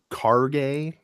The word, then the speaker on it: Kage: I forget how much Kage was. Micah, it's pronounced Karge, actually.